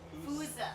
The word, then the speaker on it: fossa: So we'd been calling it a fossa in the studio for a long time, but Fossa. it's not called a fossa. It's like a Fooza. It's a Fooza.